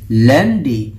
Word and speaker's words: lundi: Lundi. Pero pag binasa nyo, lundi. Ang lundi mo naman, day. Ganyan, hindi. So, it is pronounced as lundi.